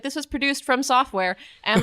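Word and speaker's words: FromSoftware: So Bloodborne, this is the game from Software. Mm-hmm. Is that how you pronounce their name? Yeah. Okay. From Software? From Software. FROM? Yes. Yeah.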